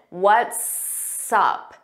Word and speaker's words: what's up: What's up? What's up? So notice it sounds like one word and you hear that S on what's and sup. We put it in front of up.